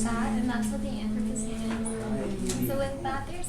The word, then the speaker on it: Anthropocene: The Anthropocene.